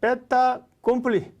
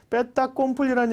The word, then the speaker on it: fait accompli: 그런 사람들이 투자에 성공하는데 베타 콤플리라는 얘기 많이 들어보셨을 겁니다. 앙드레 코스톨로니가 얘기한 말인데요. 불어입니다. 불어. 영어로 얘기하면 fait accomplish가 되겠죠. 베타 콤플리. 불어하신 분들은 연어 발음 리에종이 돼서 그런데요.